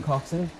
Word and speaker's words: Coxon: Graham Coxon? Is that right? Yeah, pronounce that right.